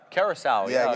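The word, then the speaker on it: Curaçao: How do you pronounce the word? Curacao.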